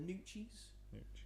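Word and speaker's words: Gnucci: In this, it's pronounced the Nucci. Like the G is silent, right?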